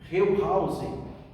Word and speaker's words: Wellhausen: Eu escrevo da forma que se pronuncia, que se pronuncia. Então é é Julius Wellhausen. Wellhausen. É o nome desse camarada. Se escreve assim, ó, pronuncia assim.